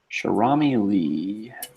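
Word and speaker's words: Cherami Leigh: this type of thing oh we got here cher ami Lee you that's how you say her name okay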